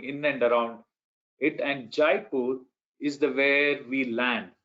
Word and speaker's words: Jaipur: Tell us about Jaipur.